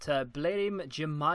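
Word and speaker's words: Blerim Džemaili: I believe it but blim Jama is how you say this guy's name that sounds wrong to me but we'll uh we'll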